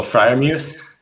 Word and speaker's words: Freiermuth: I want to know your feelings on Pat Freiermuth. However the hell you say his name. Oh, Freiermuth?